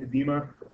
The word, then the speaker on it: edema: Looks like edema, pronounced edema.